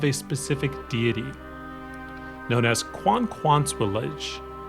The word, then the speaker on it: Kwakwaka'wakw: Now that name is spelled Kwakwaka'wakw, and it's pronounced Kwakwaka'wakw.